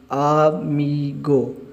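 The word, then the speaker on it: amigo: आ और एम और आई जब मिलेंगे मी, आ मी, और जी और ओ जब मिलेंगे ये बनेगा गो। आमीगो, आमीगो, आमीगो फ्रेंड, दोस्त।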